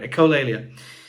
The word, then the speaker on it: echolalia: I never pronounced that right. Echolalia.